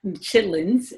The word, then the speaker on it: chitterlings: So they had things called, in the culture, chitlins is often the way that it's pronounced, although it is chitterlings.